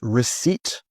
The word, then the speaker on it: receipt: And of course, receipt.